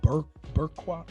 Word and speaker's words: burqa: Women were barred from going to school, working outside the home, and they had to wear the all-encompassing burqa. How do you say that? Burqa, B-U-R-Q-A, and be accompanied by a male relative whenever they went outside.